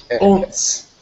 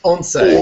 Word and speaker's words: Once: I actually had to figure out how to pronounce that because I was about to say Once. But it's Onse.